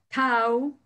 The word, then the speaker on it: tau: Tau, se pronuncia tau.